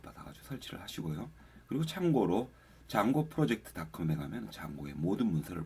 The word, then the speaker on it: Django: 그리고 장고를 설치를 하고 싶으면은 여러분들 폴더는 다시 단톡 폴더로 갈게요. 여기서 pip install 장고라고 d장고 d는 묵음이죠.